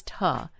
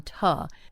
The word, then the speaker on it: to: For example, the word to, t o, often becomes tuh. So, we don't fully pronounce that oo sound. It might become tuh. Instead of saying, "I want to," we might say, "I want tuh."